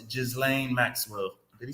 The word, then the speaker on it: Ghislaine: It's Ghislaine Maxwell. Did he spell it Just right?